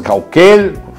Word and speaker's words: Caucel: Y así hay otros nombres, Cauquel, se escribe Caucel.